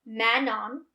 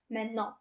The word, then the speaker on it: Manon: So, with unaccented, it's Manon, right? Say that. Manon. Okay. When you pronounce it in French, you're just gracing the last N. Manon.